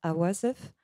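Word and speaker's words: عواصف: mot en arabe, c'est un mot qui se prononce awasef et ça veut dire tempête.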